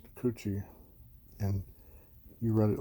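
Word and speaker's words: くち: its own it means a mouth and it's pronounced coochie and you write it like this in heana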